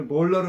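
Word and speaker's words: molar: 정확히 m r자까지 하는게 어금이에요. m r 쳐 보세요. m l a r r r r 예 따라서 해 보세요. 몰 몰라 하죠. 네. 우리 몰러를 알아야 돼. 몰러. 예. 몰라.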